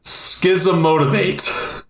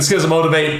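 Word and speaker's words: Schismotivate: It's an instant, and I believe it's pronounced Schism Motivate.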